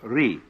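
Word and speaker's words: 理: Second, the world that is called Ri, R-I.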